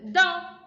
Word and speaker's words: dans: Dans. Dans means, oui, Mohamed. In. Observez le premier dessin. Le chien est dans. We do not pronounce the S.